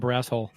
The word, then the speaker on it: Barrasso: No, I love Tom Barrasso. Actually, I remember as a kid. You pronounced it wrong. I guess what? You pronounced his name wrong. It's Tom Barrasso.